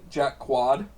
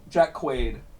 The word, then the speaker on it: Jack Quaid: he's British uh so i i'm probably gonna mispronounce his name but a jack quad Jack Queen Jack Quaid yeah oh yeah ID Quaid if I saw